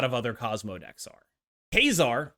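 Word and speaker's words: Ka-Zar: other Cosmo decks are Kar that's actually how it's pronounced but I'm probably going to go back and forth between kesar and Kazar depending on how lazy I am is a very very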